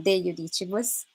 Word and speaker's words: de Judicibus: My name is Rosanna de Judicibus. Thank you. Yes, you pronounced my surname correctly.